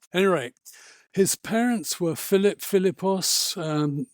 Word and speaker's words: Philippos: his parents were Philip philippos um the macedonians pronounced that bilos the pH becomes a b sound and his mother was